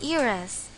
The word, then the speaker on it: heiress: academy start with vowels there are instances when H is a silent letter examples you still have an hour left and she is an heiress notice that in this sentences although H is a consonant we didn't use the